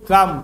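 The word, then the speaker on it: calm: काम नहीं, काम काम मतलब इसके अंदर एल साइलेंट है, ठीक है। एल को कल में नहीं पढ़ते हैं, इसको काम ही पढ़ते हैं।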